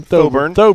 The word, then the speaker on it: Thoburn: Thoburn.